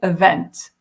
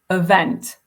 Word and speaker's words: event: me try that again if he'd said event or event that's what I meant to say stressing that second syllable I would have found